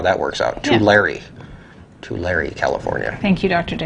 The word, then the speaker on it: Tulare: you've got feeding, and who will pronounce the E on Tulare.